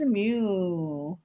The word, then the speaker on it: mu: So we call the mu me. This is mu. Yeah. Mu like a cow. Cow cow sounds.